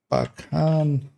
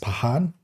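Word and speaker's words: Pakhan: 25 0608 and score Pakan. Oh, somebody actually in a comment. So, apparently it's pronounced Pahan, which kind of I think already uh in like Slavic languages the KH Usually it's just a H where like in Arabic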